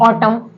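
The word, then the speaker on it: autumn: means होता है पतझड़ तो ऑटम में क्या साइलेंट वर्ड है लेटर है एन एन यहां पे साइलेंट लेटर है ओके ऐसे ही अगला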